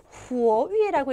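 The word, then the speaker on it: 活跃: 그래서 요 단어 보면 후어위라고 읽으시면 돼요.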